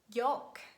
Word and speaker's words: yolk: And mostly letter L is silent when it's preceded by vowels A, O, U, and it's followed by a consonant. For example, huff, cuff, pum, bum, walk, talk, chalk, yolk, and could, would, and should.